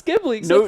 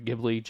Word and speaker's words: Ghibli: I like it everybody likes gibblies not everybody I hope I'm saying it right too Ghibli you don't even know how to say it